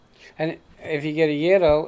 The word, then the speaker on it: gyro: Gyro is used more than euro. I would bet. We always tell people, remember, it rhymes with Spiro, gyro.